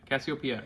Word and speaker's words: Cassiopeia: Is this Cassiopeia? Cassiopeia, yeah.